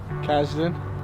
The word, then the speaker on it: Kazden: you okay you ready sure what's your name Kazden spell that KAZDEN what's your first memory you remember